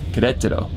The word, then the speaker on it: Querétaro: So we woke up in Santiago de Querétaro, which Querétaro. We realized we found out we're pronouncing it wrong this whole time.